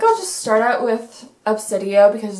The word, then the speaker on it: Obsidio: how to pronounce gemini but this is definitely pronounced obsidio i am glad that bookoutlet was able to